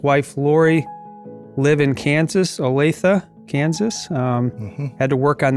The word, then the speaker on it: Olathe: Stan and his wife Lori live in Kansas Olathe Kansas had to work on that pronunciation and they have adult children corner of